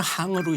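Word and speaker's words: 行: 그 행이 원래는 항으로 읽어야 됩니다. 항이요? 항. 항렬할 때도 그자 쓰니까. 네네. 그게 무슨 뜻이냐면 전포 가게의 뜻이에요. 아, 그니까 은행하면 돈 전포 돈 가게예요. 아, 그래서 원래는 은항이라고 읽어야 되는데 우리 이제 행자에 익숙하니까 은행이라고 읽는데 그건 돈가를 되시죠. 아, 그 원래는 항이군요.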